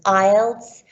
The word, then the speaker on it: IELTS: there in the english speaking world some people mispronounce it the right way to say it is ielts which stands for international english language testing system